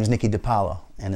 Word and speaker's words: DePaola: It's spelled with an A. DePaola is pronounced with an O. I still don't really know, but my name is Nicky DePaola, and it's spelled with